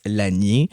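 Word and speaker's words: Lasnier: Donc la famille Laniier par exemple qui s'écrit L A S N I E R, on prononce l'anier.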